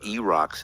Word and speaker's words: E-Rock: And he's pronouncing E-Rock's name incorrectly. It's not Eric. It's E-Rock. Idiot.